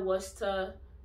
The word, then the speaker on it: Worcester: So those five examples, you have to change the cester to star. You don't pronounce it the way you spell it at all.